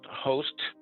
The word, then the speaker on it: HOAst: is uh h o a s t it's pronounced host and it began operations around 2013.